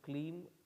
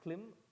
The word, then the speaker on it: Kleem: thank you you ready um k l e e m can you pronounce it cream om klim krishnaya namaha can you say it loud once your mantra that i just gave you gracias little louder it does not climb it is clean thank you what is